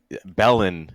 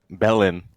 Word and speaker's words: Belen: just you can just Belen is pretty in want is pretty short just two syllables he's just over there past the fruits and vegetables Belen yeah here for you